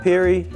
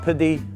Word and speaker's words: Pirie: through here a lot Pirie not Purdy but pretty weird food